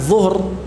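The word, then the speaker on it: ظهور: Nah, karena pengucapan zuhur, ya, dengan zuhur, ya, zahirah namanya, ya, ya, zuhuruha namanya, zuhuruhum, ya, itu harus diucapkan dengan dha, ya, bukan dengan zai, ya.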